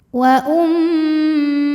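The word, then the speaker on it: وأمه: Wa di sini ada hukum gunnah musyaddadah atau wajibul gunnah karena mim bertasydid. Cara membacanya didengungkan, jadi bunyi m-nya tahan sampai ada suara masuk hidung kurang lebih 2 harokat.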